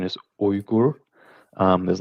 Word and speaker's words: Uyghur: the actual pronunciation is oyuguru um there's like a like i don't know how to say it in english but there is a bit of a oomph at the beginning so and it's kind